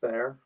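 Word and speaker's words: Bexar: The Beexar Bear, isn't that right? It's pronounced bear.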